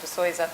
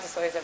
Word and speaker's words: de Souza: within nfd we've got de souza and so i mispronounced your name as i introduced you um de soyza represents the operator perspective